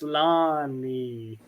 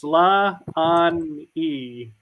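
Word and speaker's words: Sláine: She says Sla-on-e. Slani. Okay, that is too Irish.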